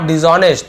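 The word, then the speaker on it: dishonest: जानते थे कि ये आदमी वॉज यानी था, नॉट डिसऑनेस्ट, ऑनेस्ट का अपोजिट वर्ड क्या होगा, डिसऑनेस्ट हो जाएगा, ठीक है, डिसऑनेस्ट, तो डिस लग जाता है उसमें, ऑनेस्ट, फिर यहाँ पे भी साइलेंट है।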